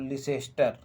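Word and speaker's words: Leicester: तो ला छोड़ दीजिएगा, तो लिटिस्टर, और इधर मास्टर का माँ हटा दीजिएगा, तो लिटिस्टर, ठीक है। और बाद में जो लिटिस्टर में टाप निकल रहा है उसको साइलेंट कर दीजिएगा, तो निकलेगा लिसेस्टर, याद रखिएगा।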